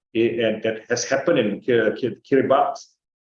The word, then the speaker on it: Kiribati: that has happened in Kerry box kiribatius but pronounced at the Kiri box uh in the South